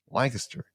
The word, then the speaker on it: Lancaster: Give me the Pennsylvania pronunciation here. Lancaster.